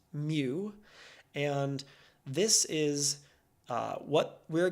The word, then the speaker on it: mu: right here is mu it looks like a u but it's actually a Greek symbol pronounced mu and this is what